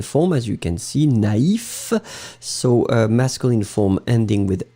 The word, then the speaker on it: naïf: But if you put the tréma, then it means that you will have to pronounce first A, na, and then separately you will pronounce the I. Naïf.